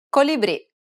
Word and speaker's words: colibrì: The next vowel is I, imposta, colibrì, bile, It's identical to the double E sound in the word see.